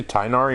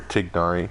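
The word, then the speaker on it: Tighnari: oh by the way do you guys say tainari or tignari i know in the game they pronounce it tainari but so many youtubers call it tignari um you've been using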